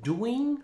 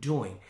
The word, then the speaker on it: doing: ahora esta palabra acá no es doing sino dwing acá la i se pronuncia corta en una lección anterior